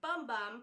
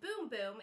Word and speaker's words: Bum Bum: always heard of their boom boom cream which I thought was pronounced bum bum because as you can see here it looks like it's bum bum but it's actually pronounced boom boom and it's supposed to